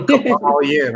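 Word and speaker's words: Kybalion: The Kabbalion. I know people confuse it. The KYB. I didn't hear you. How spell that, please?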